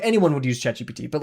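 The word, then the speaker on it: ChatGPT: Why do people call it chat GBT as in beta G like gamma beta towel?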